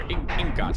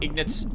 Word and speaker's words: ingot: And that will make us an iron ignet. Or ingot, however you're supposed to say it. I call them ignits. I'm so sorry, everyone. That's how you say it.